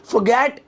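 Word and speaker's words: forget: फॉरगेट इट, फॉरगेट नहीं, फॉरगेट। Slow motion में वो आर थोड़ा साइलेंट है, मैं अंग्रेज बनना हूं ज्यादा।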